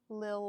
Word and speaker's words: Lil: Lil like Lily.